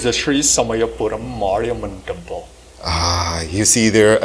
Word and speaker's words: Samayapuram Mariamman: Before we begin with Eden, let's ensure that we got that pronunciation correct of the temple. Was it correct, sir? It's the Sri Samayapuram Mariamman Temple.